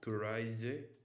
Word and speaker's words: Turaije: You pronounce it Turaya, but it's Turaije.